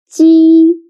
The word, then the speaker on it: 鸡: 鸡. Now read after me. 鸡. 鸡. The next one is 七.